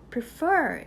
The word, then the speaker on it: prefer: prefer이라는 단어는 선호하다 의미입니다이 단어에서 강세는 이음절 있어요 그래서 prefer이 아닌 prefer prefer 이렇게 발음이 되는데요 조금 빨리 발음하다 보면